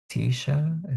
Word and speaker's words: Tisha: Tisha, is that how you pronounce it? Yes. Okay. Hi, everybody. I'm Tisha.